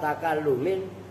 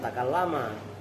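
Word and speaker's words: تكلّم: Karena dimudhofkan nunnya dibuang jadi harfa takallumin, 2 huruf pembicara. Takallum itu takallum bacanya bukan takallama.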